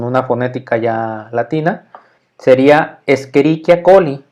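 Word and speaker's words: Escherichia coli: fonética ya latina sería escherichia colli y entonces que aplicamos de esa regla de la c y la h que sería como una k entonces escherichia colli sería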